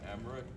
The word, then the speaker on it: Emmerich: My name's Emmerich, it's spelled E-M-M-E-R-I-C-H.